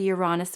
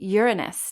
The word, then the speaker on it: Uranus: So Uranus gives us, there's so many ways to pronounce Uranus. I guess nobody wants to hear you say Uranus. So I choose the Uranus version, but I've heard people say Uranus too, which sounds a little closer to Uranus to me. So I'm going to just stick with Uranus.